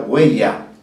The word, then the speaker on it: huella: Tal como nosotros pronunciamos con una G ahí muy marcada.